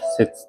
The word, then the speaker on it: 楔: くさびと書いて節と呼びます。